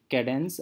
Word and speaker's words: Kadane: known as Katniss algorithm so we pronounced so I write as K ay B a and E so it is cadence algorithm and this is the